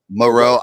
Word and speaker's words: Moreau: Moreau. Okay, I'm starting Moreau too. Yep, in we a got him couple in our of Trenches leagues. league. Oh yeah, there's one. So I'm definitely starting Moreau.